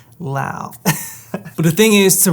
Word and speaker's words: Laos: Most people see it, they think it's pronounced Laos, but no, it's pronounced Laos.